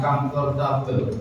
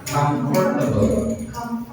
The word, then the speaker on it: comfortable: N itu pronunciation-nya comfortable. Bukan comfortable tapi comfortable. Comfortable artinya nyaman.